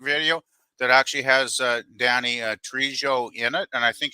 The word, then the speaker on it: Trejo: that actually has Danny Trejo in it, and I think he actually directed. The J is silent. Right. Spanish. I know it's Trejo.